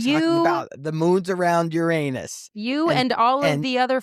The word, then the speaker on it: Uranus: Pronounce it correctly. That is the correct pronunciation. They changed that, just so you know. Let's be clear. I don't know exactly when it was, but they used to pronounce it Uranus, okay?